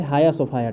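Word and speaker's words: Hagia Sophia: रहे हैं न्यूज़ में इसको हेगिया सोफिया या हेजिया सोफिया कई तरह से लिखा जा रहा है, लेकिन इसका जो ओरिजिनल प्रोनाउंस है, जो मतलब कि सही प्रोनाउंसिएशन वो है हाया सोफाया।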